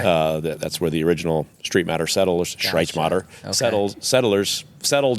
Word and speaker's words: Streitmatter: common name okay uh that's where the original Street matter settlers Mo sett settlers settled in the mid 1800s M uh and as result there's loads and loads and loads of Street matters around so that's how everybody pronounces it and it was just easier to